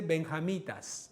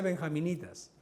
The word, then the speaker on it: benjamitas: Se dice benjamitas, no se dice benjaminitas, benjamitas.